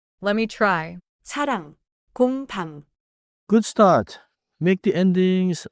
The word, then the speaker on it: 공: Now, 공. It is one syllable, and that one syllable already contains the final nasal ending.